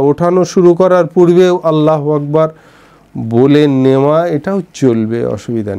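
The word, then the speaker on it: الله أكبر: আল্লাহু আকবার শব্দ দুটোর আলিফে জোর দিয়ে উচ্চারণ করা এবং হাকে সামান্য টানের অভ্যাস দিয়ে উচ্চারণ করাটা ভালো। আল্লাহু আকবার, বুঝেছে?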